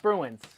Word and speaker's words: Spruance: Definitely pronounced Spruance.